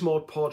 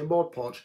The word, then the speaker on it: Mod Podge: I use Mod Podge for a lot of projects.